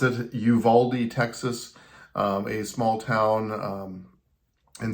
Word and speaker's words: Uvalde: I looked up how to pronounce it, Uvalde, Texas, a small town in southern Texas, actually near the Mexican border.